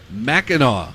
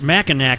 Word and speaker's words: Mackinac: Well, it's Mackinac, but I think it's pronounced Mackinac.